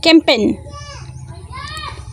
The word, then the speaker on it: campaign: And number 2, C-H-A-M, chem, P-A-G-N-E, camping. Here the G is totally silent. C-H-A-M, chem, P-A-G-N-E, campaign.